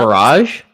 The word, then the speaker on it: Barrage: But I did get to try barrage. I don't know how you pronounce. Barrage.